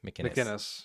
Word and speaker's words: McInnes: McInnes.